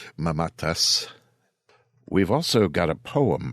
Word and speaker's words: Mamatas: by Nick mamatas and I'm probably not pronouncing that the way people normally do it's mamatas in hwa circles but I do believe the proper Greek pronunciation is mamatas we've also got a